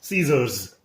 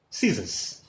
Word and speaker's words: scissors: is very interesting and people pronounce it caesar's and the right pronunciation listen it is scissors scissors i repeat last